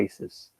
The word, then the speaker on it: ISIS: e aí usavam Isis a sigla Isis ficou mais famosa em inglês se pronunciava ices só que além disso